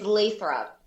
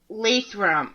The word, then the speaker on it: Lathrop: It's Lathrop. Lathrop. Okay. See, I'm from Mass, so it would be pronounced different.